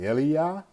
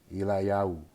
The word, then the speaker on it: Eliyahu: It's either Eliah, like Elijah, or it's either going to be pronounced Eliyahu. Eliyahu is the right way to say it.